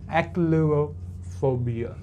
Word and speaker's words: echolalophobia: Fine, so this is how you are going to say, okay, this is how you are going to pronounce this word, phobia. So echolalophobia, remember it, echolalophobia.